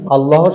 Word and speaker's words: আল্লাহ: আমরা করি আল্লাহু আকবার আমরা জানি আল্লাহ শব্দের লামের আগে যদি নসব বা জবর থাকে তাহলে পোর করে পড়তে হয় এবং পেশ থাকলেও পোর